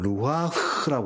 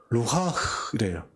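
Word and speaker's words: רוּחַ: 근데 이게 원어로 보면 루하흐라고 그래요. 루하흐래요. 같이 해볼까요? 루하흐. 예, 흐 발음이 아주 좀 세게 해야 됩니다. 흐, 이렇게 해야 되거든요.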